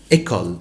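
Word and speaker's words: école: وظيفه الاكسونتج قال لي عندما توضع هذه النبره الصوتيه على هذا الحرف فقط قال لي ينطق مثل حرف الاي في الانجلش يعني على اعتبار هنشوف مثلا اللي هي الكلمه الاولى ايكال ايكال وهي بمعنى وهي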